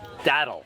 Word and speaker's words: Datil: Okay, so that I don't mispronounce it wrong, we got the actual pronunciation from a local. It's Datil.